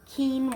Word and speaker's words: quinoa: rice and quinoa that's how you say it quinoa all right that's what we're gonna do i